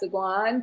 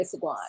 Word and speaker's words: SeGuan: SeGuan, but I pronounce it SeGuan. See, I ain't put the accent on that part. You know what I mean? I just put it on the last name.